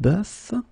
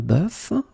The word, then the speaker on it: bœuf: first one is un bœuf, un cœur. It's actually quite interesting, because even if you write them differently, you pronounce them the same way.